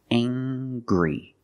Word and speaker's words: angry: say he's very angry we use the nasal sound plus the hard G angry he's very angry he